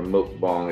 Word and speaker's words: mukbang: look up YouTube look up look bang or mukbang it's spelled mu k ba ng look Bom so